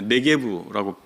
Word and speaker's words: 네게브: 네겝이라고 되어 있는 곳은 원래 네게브라고 발음할 수가 있는데 브엘세바를 중심으로 한 유대 남부의 사막지대, 마치 사막과 같은 지대가 있습니다.